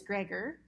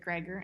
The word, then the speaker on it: Gregor: Because she said Gregor and not Grego.